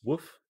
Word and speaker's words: wff: abbreviate this as wff you could pronounce this as woof so it's a fun